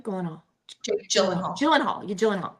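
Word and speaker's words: Gyllenhaal: TV and it's called Presumed Innocent with Jake gothal Jake golen Hall so so did I say it right Goen hall jenal gyllen Hall gyllen hall right gyllen hall and um it's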